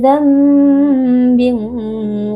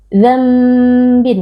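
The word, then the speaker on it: ذَنْبٍ: Dzambin ya, bukan dzambin, tapi nunnya diganti menjadi bunyi mim.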